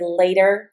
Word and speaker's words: later: Notice when I say the word later with my North American accent, the T says a D.